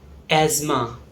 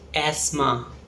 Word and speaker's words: asthma: Up next we have asthma or asthma. In British English, it's pronounced as asthma. In American English, it's pronounced as asthma. And its meaning is dama in Hindi. This word is often mispronounced as asthma.